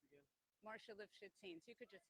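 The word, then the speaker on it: Marcia Lifshitz: Okay, and how's it pronounced again? Marsha Lifshitz.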